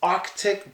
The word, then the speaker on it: Arctic: us arced because like but the three consonants are it feels a little funny Arctic Arctic but you got to say it if you want to pronounce it correctly so that is Arctic but a lot of native speakers say Arctic Arctic and not correct but we understand it